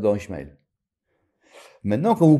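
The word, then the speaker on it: ישמעאל: vous savez tous que dans Ismael Ismaël le Alef il est pas ponctué on le prononce pas les gens ils veulent mettre le chemkel mais il y a pas làbas Ismaël maintenant quand vous prononcez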